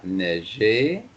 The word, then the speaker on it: neigé: Remember the E acute at the end is pronounced E. So, il a neigé.